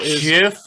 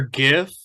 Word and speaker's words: GIF: know what I'm saying it's like GIF or GIF no that's wait wait are those acronyms is a gif acon the graphics interchange format fine you know what I've pronounced it both ways and I think that's right is what I'm saying